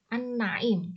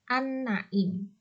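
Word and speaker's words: النعيم: An-Naim. Cara membacanya memasukkan al ke dalam huruf syamsiah berupa nun.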